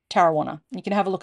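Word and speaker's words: Tarrawanna: brewery it's in Tarana which is spelled t a r a w a n a pronounced Tana you can have a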